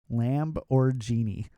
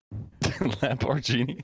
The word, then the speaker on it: Lamborghini: The I'm glad that chat picked it up on Lamborghini. That's how we pronounce it in Germany. Oh, I'm sorry. Yeah. Yeah. It's Lamb or Genie. Lamborghini.